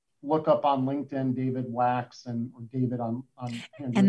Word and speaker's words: Wachs: up on linkedin david wax and or david on and that's w-a-c-h-s pronounced wax and uh handwritten notes